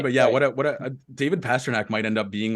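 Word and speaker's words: Pastrňák: main reason was that it rhymes with tabernac like that's what I really liked about it is that you could swear and make it loud but yeah what a David Pasternak might end up being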